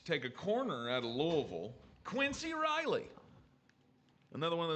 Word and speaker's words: Louisville: 131, the New Orleans Saints take a corner out of Louisville.